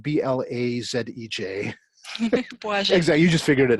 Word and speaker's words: Błażej: The name is spelled B-L-A-Z-E-J. Błażej.